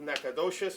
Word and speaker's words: Nacogdoches: You come full circle, the ambassador of Nacogdoches, and that's the way you pronounce it, right? Yeah, you did it right.